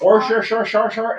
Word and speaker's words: Worcestershire: Worcestershire sauce? Did I say it properly? Worcestershire. Worcestershire. No, it's Worcestershire. Worcestershire.